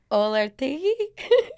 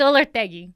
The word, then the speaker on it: Olortegui: Olertegi? It's Olortegui. Yeah. Olortegui. Olortegui. It's Peruvian.